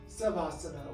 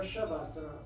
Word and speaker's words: shavasana: the Sanskrit name of subhasana or shavasana lots of Sanskrit words start with an S or have an s in there it's actually pronounced sh unknown to me why